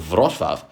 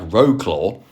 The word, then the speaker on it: Wrocław: Starting here in the Polish city of Vvav, which I can assure you is not pronounced anything like Rogclaw.